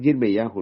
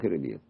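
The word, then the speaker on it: ירמיהו: Por eso cuando dice allá en Jeremías, es Yirmeyahu, no es Jeremías.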